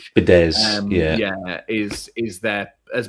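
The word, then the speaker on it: Fidesz: So you know and I think the party fed I can remember to pronounce it either Fidz or Fidesh. Fidz yeah is is their has been their political movement all this time.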